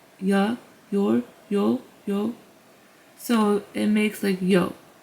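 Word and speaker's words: ㅑ: Number 2, this straight line with 2 lines to the right is pronounced as ya. So as you saw, this character is silent at the start of the syllable, so it makes just a ya sound.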